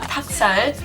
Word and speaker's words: 닭살: You're just like, So yeah, 닭살, 닭, it has an L in it, but it's not really being pronounced.